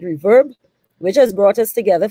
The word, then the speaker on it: RVRB: on this outstanding initiative our reverb rvrb i believe they pronounce it reverb which has brought us